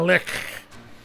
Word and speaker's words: Lich: I'm pronouncing it the way they do in Divinity. The Lich.